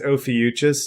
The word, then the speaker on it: Ophiuchus: it so that's i should know how to pronounce it but but yeah would someone chime in to be like no it's ophiuchus you like well cause like